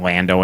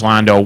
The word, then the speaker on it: Lando: that as false modesty hey it's pronounced Lando in handsome blond oh and Han Han Solo not handsome that's it that's a Lando calls oh yeah yeah because I'm Han exact yeah and he corrects him to Han but Lando Londo Londo Calrissian no way no Lando yeah that's that so